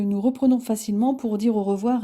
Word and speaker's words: au revoir: Dans le registre formel, on utilise le au revoir classique et intemporel que l'on adresse traditionnellement pour quitter une personne après avoir passé un moment avec elle. Cette formule se prononce plutôt au revoir.